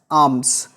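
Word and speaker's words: alms: या ही गॉट एज आर्म्स। एज आर्म्स, बात को समझिएगा यहाँ पे। हाँ, आर्म्स मतलब क्या होता है बेटा? देखो यहाँ पे एल साइलेंट है।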